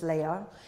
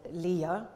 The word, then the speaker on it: Leia: Fisher who played Princess Leia or Leah by the way in the film is pronounced in two different ways I'm gonna stick with